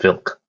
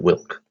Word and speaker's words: Vilk: fun fact about vilk he's pronounced filk not wilk so oh it's just